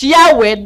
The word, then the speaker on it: Yahweh: The more correct way is Yahwe than Jehova.